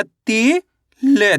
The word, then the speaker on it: तिल: ता में छोटी इ की मात्रा ती ल।